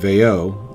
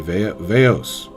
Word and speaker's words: Veo: mispronouncing my name and calling me instead of veo they would call me veos all the time and eventually it stuck